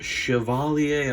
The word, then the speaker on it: Chevalier: I've heard it called the Chevrolet, or the Chevy Cavalier, or the Chevalier, or all kinds of crazy things. But I believe the correct way to pronounce it is Chevalier.